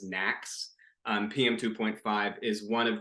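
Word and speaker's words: NAAQS: across the the nation these are called National ambient air quality standards which we often pronounce as knacks um pm2.5 is one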